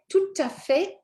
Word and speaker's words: tout à fait: Okay, tout à fait. We're going to look at why in a minute, but basically it's just because it's followed by a vowel.